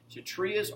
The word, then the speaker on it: Kshatriyas: Now, the Kshatriyas, the K is silent. Kshatriyas are the warriors of the society, right?